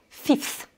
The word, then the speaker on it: fifth: Puisqu'on dit pour 5, on va dire 5, mais par contre, pour le cinquième, on va dire fifth. Donc, on écrit F-I-F-T-H. Donc là, on n'est plus sur le son I, le son de l'alphabet